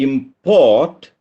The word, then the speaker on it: import: import from russia and we are going to import sputnik from russia we are exporting something and we are importing something stresses on the second syllable i import the sadhana